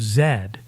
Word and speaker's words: Zed: AI even has me pronouncing the last letter in the alphabet as a z instead of Zed which is the Canadian pronunciation so when you're creating